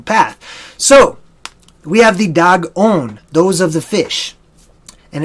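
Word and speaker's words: Dagon: thee right so the dog own da G is pronounced just like the animal dog okay aaaghh the dog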